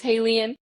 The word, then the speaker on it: HALIENE: So I am Haleen on all social platforms, H A L I E N E. And yes, it rhymes with alien.